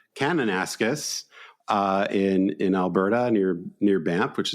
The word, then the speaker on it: Kananaskis: They'll be in, I think you pronounce it Kananaskis. Is that correct? Kananaskis in Alberta near Banff, which is a beautiful part of the country that I've been to.